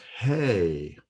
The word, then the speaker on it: He: Okay, the next letter that we will learn is He. It's spelled H-E in Hebrew. It is pronounced as a hard H, as in He.